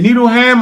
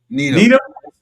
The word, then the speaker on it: Needham: Needleham or Needle? How you say it? So I say Needleham. Am I saying it wrong? Needham? Needham, yeah, just Needham.